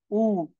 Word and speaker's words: U: তে সেম ভাবে দেখেন ইউ হ্যাঁ আমরা ইংলিশে বলি কি ইউ তারা বলতেছে উঁচ দেখেন রসু রসুর মত আর কি উম উ মনে রাখতে হবে এটাকে উকে